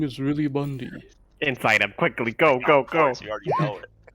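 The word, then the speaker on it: Bundi: Is your name really Bundy, or are you just saying that? Ah, I got it, Lumpy. Took me a minute. My name is really Bundy.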